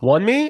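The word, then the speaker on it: Wunmi: Wonmi?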